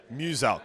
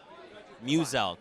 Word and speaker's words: Muselk: Muselk. So it's like Muse and Elk. Muselk. It's very easy, okay? Even I had to know. There you guys go. Muselk.